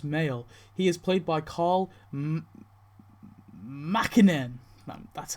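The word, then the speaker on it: Karl Makinen: He is played by Carl Mackinen.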